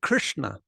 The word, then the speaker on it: Krishna: syllable it will carry a word like Krishna Krishna Krishna it's that's the vowel in that first syllable is the third position so to make that